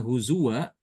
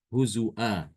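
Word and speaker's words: هُزُؤًا: Pokoknya setiap ada kata huzwa di dalam Al-Quran, Imam Syu'bah ya, mengganti wawunya itu dengan hamzah. Jadi dibacanya huzua, huzua.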